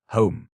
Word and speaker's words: homme: bark he learned from D’Arnot that it was pronounced _homme_, and in the same way he was taught to pronounce ape, _singe_ and tree, _arbre_.